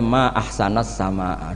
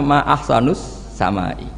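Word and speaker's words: ما أحسنَ السماءَ: Mestinya bacanya ma ahsanas sama, duhai begitu indah. Tapi dia bacanya ma ahsanus samai.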